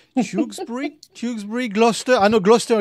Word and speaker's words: Tewkesbury: This is one of those names that is quite hard for me to pronounce. Tewkesbury, Gloucester. I know Gloucester, it's fine, but yeah, there's too many letters in this. Tewkesbury, this is where we're starting from.